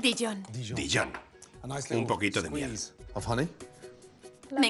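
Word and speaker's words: Dijon: verde empecemos con una buena cucharada de dillón pronuncia dillón d dillón un poquito de miel me encanta la miel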